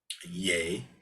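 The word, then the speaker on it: 예: an expert in propriety an expert in Lee or um yay as it's pronouncing Korean he's supposed to be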